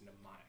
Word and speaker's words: mnemonic: some of your spells the m is silent it's mnemonic oh it's mnemonic mnemonic